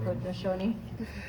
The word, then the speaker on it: Haudenosaunee: Haudenosaunee.